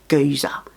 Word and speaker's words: geezer: If you want to know about this this word they use, geezer, and it rhymes with sneezer and also I like to spend my time with Ebenezer.